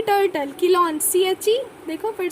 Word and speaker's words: Chelone: इसके एग्जाम्पल्स क्या क्या है, देखो किलॉन मतलब कि टर्टल, किलॉन CHE, देखो फिर से किलॉन है, CHELONE, किलॉन टर्टल, किलॉन टर्टल. फिर testudo, TESTUDO, testudo tortoise, T से टेस्ट्यूडो टॉर्टोइज. किलॉन है टर्टल, किलॉन टर्टल, टेस्ट्यूडो टॉर्टोइज.